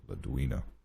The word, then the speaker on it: Ladua: him holder and well ladua that's probably the closest correct pronunciation is ladua not that it matters